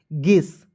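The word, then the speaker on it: guess: एस तो इसे पढ़ेंगे दोस्तों यू को साइलेंट कीजिएगा जी का ग ई से एक की मात्रा डबल एस का उच्चारण श के रूप में गेस गेस मीस क्या होता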